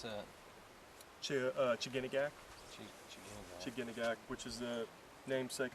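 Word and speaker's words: Chiginagak: How do you pronounce that? Chiganagak.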